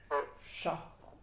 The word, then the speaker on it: syahr: Syahr. Syahr. Syahr. Nah, kemudian gabungkan. Syahr. Qadr. Syahr. Qadr. Qadr. Syahr. Qadr. Nah, bukan syahr, tapi syahr. Coba. Seperti ngucapin syahur gitu ya, tapi tidak diucapkan u-nya, tapi syahr.